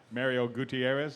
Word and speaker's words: Mario Gutierrez: Let's go to the other first-timer in the room, and really a first-timer, and Mario Gutierrez. Did I get is that the correct pronunciation there?